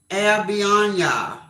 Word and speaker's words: Albiona: I do the AL and then the L and then BI is by. L by and then ONA.